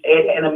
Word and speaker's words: Ed anime: pronounce the company's name we pronounce it's Ed anime Productions Ed anime is short for educational